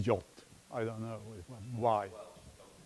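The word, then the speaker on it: JWT: packaging information and well the pronunciation is the jolt I don't know why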